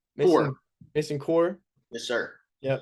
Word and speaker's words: Kuhr: Kuhr.